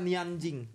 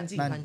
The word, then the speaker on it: Nanjing: Nanjing apa Nianjing? Bacanya Nanjing. Nanjing karena bacanya.